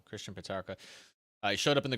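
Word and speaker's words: Petracca: christian uh how do you say that christian petraka sorry from saying they're wrong christian patarka i showed up in the grand final had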